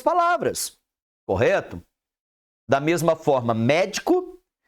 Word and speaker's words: médico: para escrever a outra o acento É só para indicar a sílaba o quê tônica Ah vai mudar o significado vai mudar porque a sílaba tônica altera o significado também pele Pelé Pará para